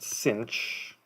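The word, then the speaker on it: sinh: si n H this pronounced cinch when you say it out loud and it's the hyperbolic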